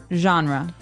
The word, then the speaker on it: genre: We say genre. Genre. Or genre. So this kind of sounds French. Is it French? I think it comes from French. It's a GE word, so genre. It's a soft sound.